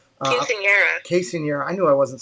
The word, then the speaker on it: Quinceañera: Diz Our Dream with their daughter had a big success story recently with their Quintana. I hope I'm saying it right. Quinceañera.